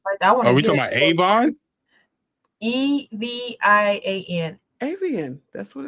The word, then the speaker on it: Evian: Evian. Avian. That's what it's Avian. Mm-hmm. That's how you never pronounced it like that.